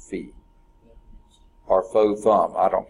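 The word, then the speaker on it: phi: feet yeah okay it you might have always pronounced it five but they pronounce of feet our flow thumb I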